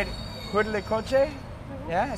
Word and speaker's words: Huitlacoche: Huitlacoche?